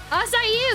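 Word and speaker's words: açaí: Asai is the actual how to pronounce it.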